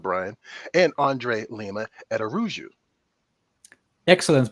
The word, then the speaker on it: Araújo: hey what's up Brian and Andre Lima at aruu excellent pronunciation of my last name who taught you